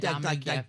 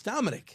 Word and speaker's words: Dominic: No. I'm not Dominique. And your first name is spelled pretty much traditionally. Yeah. There's no Q in it or anything, or No, it's like Dominique. Dominique Wilkins. It's Dominic. Dominic. Yep. He pronounced it Dominique.